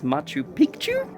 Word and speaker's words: Machu Picchu: our way down into the ancient city of Machu Pichu now this was occupied from about 1,400 for about 100 years and yeah it's absolutely incredible of course the correct way to pronounce it is Machu piku which means Little Mountain which is based off